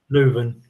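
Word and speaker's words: Leuven: Is it Leon? However you pronounce it. Luven.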